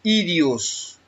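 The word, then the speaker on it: ἴδιος: Es la G2398, se pronuncia en griego idios y es la definición aquí pertinente a uno mismo, propio de uno, propio suyo.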